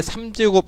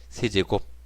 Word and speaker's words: 세제곱: 2의 세제곱, 2의 3제곱 아니고요. 2의 세제곱이에요. 2를 몇 번 곱했습니까? 3번 곱했죠? 그래서 세제곱이에요. 2를 3번 곱한 거 아닙니다. 3번 곱한 겁니다. 그래서 2의 세제곱.